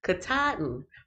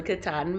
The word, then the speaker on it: Katahdin: In case y'all didn't know, that's how it's pronounced. Katahdin, from the Katahdin Mountains.